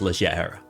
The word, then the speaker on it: leggera: Legera. Sorry. Got to pronounce it correctly. Legera. I I mean that's not how it's pronounced in Italian. It's legier.